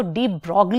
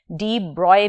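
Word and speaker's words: de Broglie: किया डी ब्रॉय ने इसको डी ब्रॉग भी कुछ लोग प्रोनाउंस करते हैं और आप इसे डी ब्रॉय भी प्रोनाउंस कर सकते हैं सो डी ब्रॉय हाइपोथेसिस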